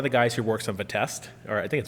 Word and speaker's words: Vite: guys who works on Vitest, or I think it's Vitest, and however you say it. Vite. I did talk to Evan. He said it was Vite because it's a French word.